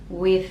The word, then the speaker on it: with: With every. With, soft sound, with and tongue between the teeth.